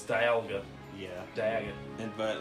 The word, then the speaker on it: Dialga: monster but I honestly don't know how to pronounce that's another one it's Dialga yeah dad but like I just threw out